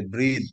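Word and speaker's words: breathe: এই ব্রেথ হচ্ছে ই বাদ দিলে, ব্রেথ হচ্ছে নিঃশ্বাস নাউন, আর লাস্টে একটা ই দিলে সেটা উচ্চারণ হয়ে যায় ব্রিদ, মানে হয়ে যায় নিঃশ্বাস নেওয়া, ভার্ব হয়ে যায় নাউন থেকে ভার্ব।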